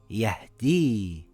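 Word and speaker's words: يهدي: We have to look at the letter before it, if the letter before it has a kasra it will be pronounced as an ei sound like in the word weird. This will read as yahdii.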